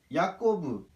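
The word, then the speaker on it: יעקב: 야곱은 야꼬브, 야곱이라고도 할 수 있죠.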